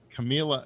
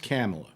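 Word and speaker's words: Kamala: i wonder you know camilla camilla harris always kind of giggles and laughs and uh it's pronounced camella yeah well maybe she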